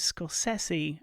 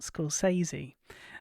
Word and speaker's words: Scorsese: I am pronouncing that name correctly. It is Scorsese and not Scorsese.